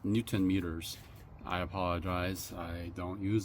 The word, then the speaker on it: newton meters: So, it's 25 I can't read nanom meters, not pounds.